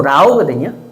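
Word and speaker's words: 老: 그래서 여기 중국어 원래 사전을 보면 이 노서는 원래 여기 저기 늙을 노자 이거는 중국 발음으로 라오거든요.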